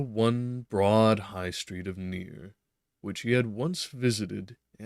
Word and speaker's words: Nir: I'd like to pronounce it Nir, but I also don't want it to be Nur if it's more properly said such. Nir, okay, was correct.